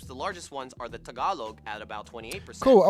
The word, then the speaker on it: Tagalog: Of these groups, the largest ones are the Tagalog at about 28%.